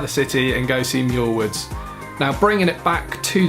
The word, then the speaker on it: Muir Woods: Golden Gate Bridge is a place called muir woods or Myr woods as I continually pronounced it over at